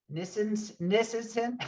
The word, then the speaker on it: Nisenson: I don't know if I did or not, but is it pronounced Nisenson? Yep, that's it.